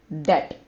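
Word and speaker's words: debt: pretty easy it's b b over here is silent now I'm going to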